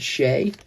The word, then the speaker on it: Shai: Shy. Shay. How do you say his name? Shai, I guess. S H A I. All right. Alexander Shay. That's how you pronounce it. Shay.